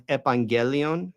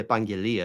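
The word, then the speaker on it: ἐπαγγελία: And so if I call you out on that and I say, well, it's actually epangelia, it's not evangelion, those are like totally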